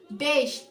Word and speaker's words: beş: Jadi S-nya itu ada koma di bawah. Jadi pengucapannya she. Jadi kalau 5 itu bacanya beş karena S yang terakhir itu adalah she tanda kutip di bawah, tanda kutip koma di bawah. Jadi bacanya she. Beş.